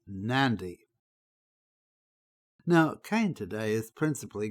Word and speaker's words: Nadi: For instance, the airport we've just seen is at a place which is spelled Nadi, but it's pronounced Nandi.